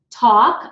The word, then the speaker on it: talk: that you'll know that talk I don't pronounce the L so it's tau K